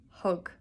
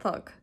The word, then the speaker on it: thug: Hug, not thug.